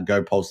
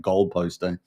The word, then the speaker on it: GoPost: Uh go post there sitting at 10 cents. Hasn't really moved much is it? Gold post go almost sounds like gopost but it's go post go there.